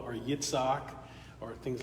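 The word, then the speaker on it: יצחק: Isaac is Yitzhak.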